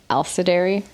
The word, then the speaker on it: Alisdairi: Alisdairi. Alisdairi. Yeah, it's actually Alisdairi.